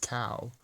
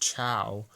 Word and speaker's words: Chao: cow the sacred cow it's pronounced cow and if that you thought it was pronounced Cho like in [ __